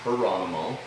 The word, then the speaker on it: Geronimo: And the famous Apache chieftain, Geronimo, properly pronounced Geronimo, was incarcerated right near there at one point when they captured him temporarily.